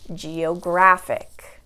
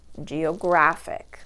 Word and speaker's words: geographic: Okay, 4 syllables. Again, geographic. So counting backwards from the end, this is the second to last syllable. We have G, 1, O, 2, graph, 3, ic, 4. So counting back, 1, 2, that's going to be in the middle. The graph part there, that's where you have the stress.